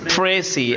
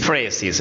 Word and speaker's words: précis: pry we know that it is pronounced in two different ways number one first one is singular and another one is plural singular is pronounced as pry and plurales phes no when we say pry